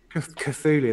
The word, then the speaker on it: Cthulhu: the chatulou artemis or how do you pronounce it anyone know cthulhu cthulhu that's it artemis it's a 22